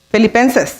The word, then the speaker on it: Filipenses: ¿De Filipenses o Filipea? ¿Cómo se dice? Filipenses, ok.